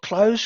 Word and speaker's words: cloze: Our biggest tool we would use in Moodle is called close questions, and that's spelled CLOZE.